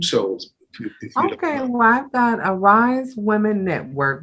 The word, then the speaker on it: Ari'ze: okay well i've got a rise women network which is spelled a little different ari apostrophe zs and zebra e but it is the word arise i derived it from